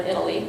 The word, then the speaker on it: Eataly: story they're called eataly that spell dat ta-da ly pronounced like or Italy Italy and this was about